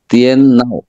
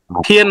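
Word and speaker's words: 电脑: Computer হচ্ছে টিএন নাও। টিএন নাও। হ্যাঁ, কোন টোন? এখানে দুইটা টোন আছে, কি কি বলতে পারেন? এখানে টিএনটা আছে 4 টোনে, নাও 3rd টোন।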